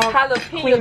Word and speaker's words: jalapeño: Jalapeño. The J is silent.